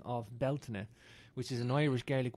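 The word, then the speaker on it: Bealtaine: I mean right where I'm at here in Belton stone circle which means balina bal meaning the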